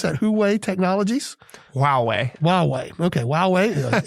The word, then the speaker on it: Huawei: on semiconductors, as we did with how you pronounce that? Huawei Technologies? Huawei.